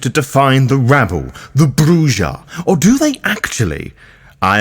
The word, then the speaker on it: Brujah: of said piece is the text that reads bruer indicating that very much indeed pronouncing the clan correctly which you can hear